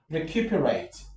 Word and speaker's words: recuperate: we come to number It's recuperate. Recuperate. Recue perate. 1 2 3 4. Recuperate. 1 2 3. This is where the stress is.